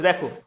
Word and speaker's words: the: যখন আমাদের কোনো ওয়ার্ড শুরু হবে ভাওয়েল দিয়ে এবং ভাওয়েলের শুরুতে টিএইচই থাকবে, ওই টিএইচই এর উচ্চারণটা হয়ে যাবে দি।